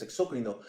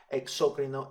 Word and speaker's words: exócrino: la verdad es que yo toda la vida he estado acostumbrado a decir exócrino endócrino así que esa es la manera en que la voy a pronunciar en este video video Pues bien eh